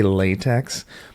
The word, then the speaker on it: LaTeX: is code maybe it can convert text into latch and so here we go so you're going to hear me say latex because I'm using transcription and I just want